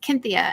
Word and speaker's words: Cynthia: stargate sg1 and um they pronounce it the greek way cynthia uh because there wasn't really a seem didn't make an s sound so it's cynthia and ever since then